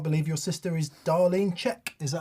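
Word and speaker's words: Zschech: Still can't believe your sister is Darlene Czech. Is that how you say it? Darlene Czech. Yep. Czech.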